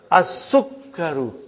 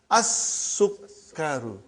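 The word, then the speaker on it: السكر: As-sukkaru. Put a shadda on kaf also. And do the justice of shadda. As-sukkaru.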